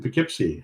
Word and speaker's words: Poughkeepsie: KD2MNR, Mike in Poughkeepsie, and I said it right.